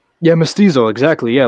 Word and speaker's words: mestizo: I'm how do I pronounce it? You're gonna say mestizo? Yeah, mestizo, exactly.